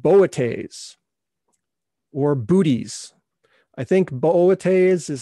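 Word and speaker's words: Boötes: or booties i think boates is how it's supposed to be pronounced with the umlaut there for those of you that speak latin but most people call it booties booties is the herdsman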